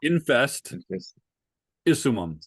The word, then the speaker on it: Infestissimum: Infest, say it for me. infestissimum. Start with Infestissimum. infest isumum. Infestissimum. Yeah. There you go.